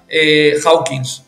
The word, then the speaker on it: Hawkins: que incluso ha fallecido, que se llama David Hawking, el doctor David Hawking, que al final, Hawkins, se escribe, no Hawkins, David Hawkins, que al final Hawkins.